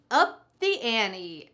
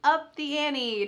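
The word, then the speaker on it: up the ante: idiom number seven is up the Annie notice the pronunciation here that t is really just cut out Annie Annie this is in American English pronunciation what does it mean to up the Annie take a look at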